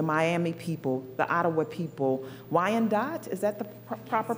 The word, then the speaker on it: Wyandotte: Lenape people, the Miami people, the Ottawa people, Wyandotte, is that the proper pronunciation?